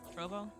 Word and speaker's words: Trovo: Okay, I meant to ask how how is Trouvo or Trovo? Trouvo, how do you pronounce it? Trovo.